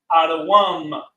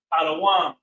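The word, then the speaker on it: אדום: However, Edom means red, and Adawam is how it's pronounced in the Lashon Kodash.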